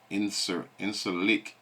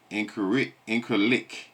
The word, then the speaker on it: Incirlik: Can't pronounce that there, boy. It's INCRLIK. Incirlik Air Base.